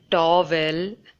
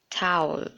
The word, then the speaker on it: towel: A lot of you might have been pronouncing this word as towel. In fact, I used to pronounce this word as towel, but in fact, it should always be pronounced as towel.